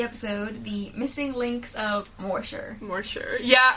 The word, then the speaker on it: Moorshire: of morer morer yeah that's probably how you pronounce it yeah I was thrown a back so there are two words I'm probably will mispronounce just from the get-go I will tell you it's probably more Shire and the word golf